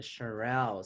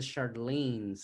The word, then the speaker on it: Shirelles: So how do you spell the Shirelles? SHI I RE R RE. LLES. The Shirelles. So see, I was saying the Charlene's.